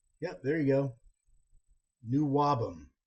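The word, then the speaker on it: NWOBHM: New Wabum is how you pronounce it.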